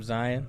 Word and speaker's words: Zion: I'm Zion, like Lion. Don't say it wrong.